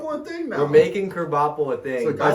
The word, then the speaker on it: Krabappel: i forgot about it krabappel is just crab apple yeah just set a different way it's pronounced differently yeah yeah yeah yeah it sounds like a kerbapple so yeah garoppolo going